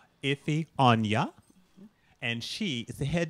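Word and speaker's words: Onyia: Onya, O-N-Y-I-A. Onya, you just say all the syllables. Iffy Onya.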